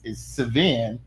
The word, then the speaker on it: Sevin: It's Sevin, but they take the I out and put the E and call him Sevin.